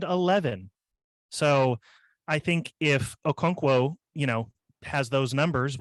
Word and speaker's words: Okonkwo: his name a lot which is pronounced chigozim Okonkwo thank you